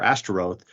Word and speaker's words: Ashtoreth: So now whenever you as an Israelite are pronouncing the Ashtoreth or Ashtaroth, you're reminded that this is shameful because you're using those vowels, which correspond to the word for shame, for this deity.